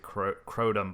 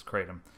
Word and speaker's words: kratom: on you called kratom or crotum i've always pronounced it crotum but they tell me that the chronic correct pronunciation is kratom uh and it's a plant that grows in